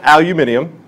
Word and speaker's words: aluminium: well let's take a look first off find aluminium as the British say which is right here okay he's in